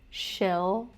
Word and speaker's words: She'll: I would say if you're struggling with the L, pronounce it more forward. Shill, the tip of the tongue touching your top front teeth.